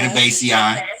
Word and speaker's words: Cannabaceae: we'll get to talk about it a little bit, but you definitely are saying it right. It's Okay. Cannabaceae.